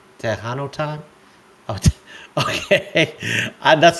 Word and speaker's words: Tejano: It's Tehano time. Oh, okay. That's not how I spell it, but hey, that's cool.